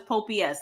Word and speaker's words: Popeyes: Just like Popeyes is Pope-S.